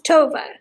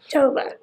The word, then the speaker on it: Tova: tavera am i pronouncing tovera sherman's name correctly it's toba tofu sherman so toba like nova tovah well that's perfect but